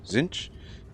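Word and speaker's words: Tzeentch: buron wolf says uh tesnit is pro pronounced T Zin z Oh pronounce zenich zinch oh I had no idea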